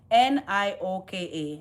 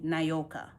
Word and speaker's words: Nyoka: It's just Nioka, Nyoka. That's it, Nyoka. I know it sounds like Nioka with the I, Nioka, Nioka.